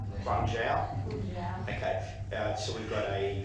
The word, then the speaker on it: Guangzhou: There is a friendship agreement in China with Councillor Jennings, you might correct my pronunciation, Guangzhou. Guangzhou.